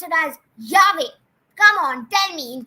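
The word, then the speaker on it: llave: It would be pronounced as double L is always pronounced as yeah.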